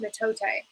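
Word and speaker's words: mitote: fog which the topics call in the total pronounced metote your mind is a dream where a thousand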